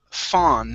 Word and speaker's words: fawn: First up, we have the word fawn instead of faun. Okay, this is only an ah sound there in the middle.